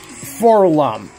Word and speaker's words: 4-LOM: So first, let's start off with Forlom. That is spelled 4-LOM.